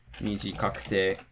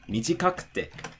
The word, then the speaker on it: mijikakute: Again, the drop is going to be before the ku. So, yokute, takakute, mijikakute. And so, again, you can think of it in terms of, oh, it doesn't matter how many syllables long the word is. It's not heiban, which means it drops before the ku.